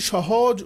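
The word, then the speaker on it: ث: হরফটার নাম হচ্ছে সা খুব পাতলা অক্ষর মানে পাতলা উচ্চারণ হবে সা নৌকা শেপ উপরে তিন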